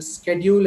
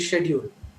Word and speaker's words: schedule: it comes to repentance example schedule and schedule most of us think one is right whatever we have learned schedule or schedule we think that that is right but actually both are right one is american one is a british so many teachers have